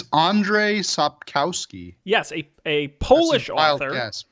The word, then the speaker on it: Andrzej Sapkowski: Do you know how to pronounce his name? I believe it's Andrzej Sapkowski.